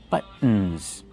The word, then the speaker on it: buttons: Use the stop T but and then go to the N. Buttons.